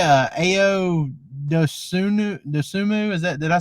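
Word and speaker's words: Dosunmu: How do you say Ao Dosumu?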